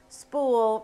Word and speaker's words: spool: use my spool method spool rhymes with cool and it stands for